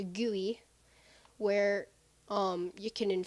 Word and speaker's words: GUI: Kulu GUI or as I've been told it's pronounced gooey where um you can INF fuse obviously um